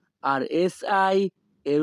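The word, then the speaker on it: hai: তুমি কি খেয়েছো এই বাক্যের ইতালিয়ান ভাষা হবে কোজা আই মানজাতো। কোজা আই মানজাতো। এখানে এইচ এ আই এর উচ্চারণ হবে আই।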